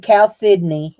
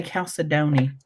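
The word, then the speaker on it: chalcedony: told me you said Cal Sydney is how you say it calcium Sydney okay thank you I always say calcidoni I don't I do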